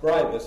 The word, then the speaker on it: Scribus: You know, even I pronounce it as I thought it was supposed to be pronounced, but this is the pronounced Scribus according to Franz.